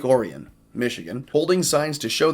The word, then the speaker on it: Orion: I know people are going to immediately say, that's Orion. It's just like the Orion's belt. Not in Michigan. They pronounce it Lake Orion, Michigan, holding signs to